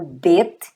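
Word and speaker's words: בית: O nome da letra é bet, tá, gente? Você lê vet só para questão de didatização. É uma questão pedagógica para que você memorize o som. Bet, tá aqui, bet equivale a B. E ele sem o ponto, você vai ler vet e equivale à letra V.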